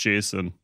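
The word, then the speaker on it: JSON: It's pronounced Jason.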